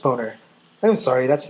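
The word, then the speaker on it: Boehner: And before we go, speaker of the house John Bader's name is still pronounced boner.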